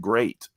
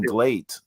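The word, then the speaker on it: Gleat: that promotion and yeah she pronounced it great like not even glate she didn't say right she didn't play she's pronounced it like great like g-r-e-a-t it's like it's great it's great so even though it's g-l-e-a-t yeah yeah great yeah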